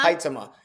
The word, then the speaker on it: Huitema: up her name, Jordan Hutima maybe. She's the Canadian girl. The first time I saw Jordan Huitema. How do you say it? Jordan Huitema. Huitema.